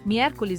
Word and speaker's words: miércoles: Alguns dias tem acento gráfico e isso muda o ritmo da palavra. Por exemplo, miércoles e sábado tem acento agudo. As sílabas tônicas são mier e sá.